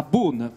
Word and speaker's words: Beaune: C'est à Beaune, au milieu des vignes.